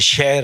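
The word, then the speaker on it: شعر: हम मतलब बोलते की हम शेर शेर बोलते हैं शेर ऐसा शेर जो इस शेर में और जंगल के शेर में कोई फर्क ही नहीं है जबकि शहर होना चाहिए कुछ कुछ में लेकिन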